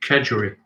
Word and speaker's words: kedgeree: Kedgeree.